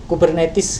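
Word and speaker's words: Kubernetes: Kemudian ada istilah yang lain adalah kita bacanya kubernetis gitu ya.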